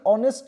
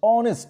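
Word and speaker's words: honest: তাহলে কিন্তু এ বসা উচিত কিন্তু এই যে অনেস্ট যে ওয়ার্ডটা রয়েছে আমরা যদি উচ্চারণ করি উচ্চারণের পরিপ্রেক্ষিতে কিন্তু ভাওয়েল সাউন্ড শুরু হচ্ছে অনেস্ট দেখো ও আসছে তাহলে ও আসছে এটা কিন্তু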